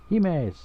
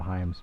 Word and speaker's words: hime: everyone loves the word he means better he mays that's how you say it i call him hymes oh well whatever i'm